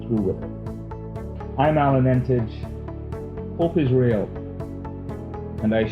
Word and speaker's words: Emtage: If I'm in Canada, it's Emtage because they pronounce it as the French would. Okay. Otherwise, it's Emtage.